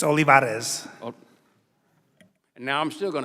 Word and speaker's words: Olivarez: uh Vietnam Veterans of America Mr uh olivar do I say it right well no with